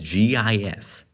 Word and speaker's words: GIF: Pronounce it as Gih-f. Think about it. Like, that's how you do, like, every file extension, almost every one, you say all the letters, like MP4, MP3, MKV, all that. You always do that. So why should GIF be any different?